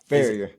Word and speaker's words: Ferrier: hanging out with the your last name is pronounced. I wanted to see if he was going to get it right. Farer. Okay. A lot of people say fier.